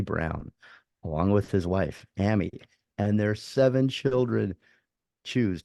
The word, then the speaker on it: Ami: a second um it's ammy right your mom's name is pronounced Amy or is it okay like Miami yeah because I because